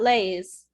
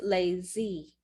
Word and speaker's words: lazy: and in this word you will pronounce this extra sound at the end so it's not laze it's lazy lazy so farmer we were